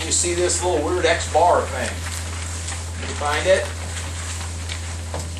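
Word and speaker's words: x̄: things first this is this is x bar that's how you say it and that's going to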